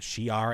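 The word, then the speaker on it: Shi'ar: we're talking about the was it the Shar Empire as how you say it yes the sh the fact that they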